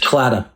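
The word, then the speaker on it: Claddagh: briefly about um and forgive my pronunciation the claddock the claddock fund clatter clatter fund yeah right which uh which is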